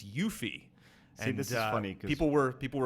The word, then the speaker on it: Yuffie: the Final Fantasy retrospective I called her yuffie and it's yuffie funny people were people